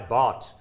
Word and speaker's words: baht: The market capitalization is 120 billion Thai baht. That's spelled B-A-H-T.